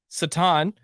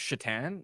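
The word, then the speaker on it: Šatan: So I was always Miroslav Satan or Alexei.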